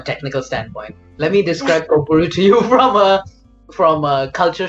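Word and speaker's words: Kökbörü: Is that the way you pronounce Kokboru? Kokboru, And yeah.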